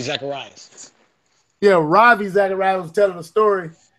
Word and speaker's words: Ravi: I keep Rava, how you say his name? Zacharias. Robbie Zacharias. Yeah, Ravi Zacharias was telling a story, but he was